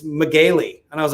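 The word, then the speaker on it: Megale: had his name totally wrong uh it was it's spelled m-e-g-a-l-e and i was gonna say magal and i last last second i said how do you i said oh do you pronounce it and he goes actually it's magely and i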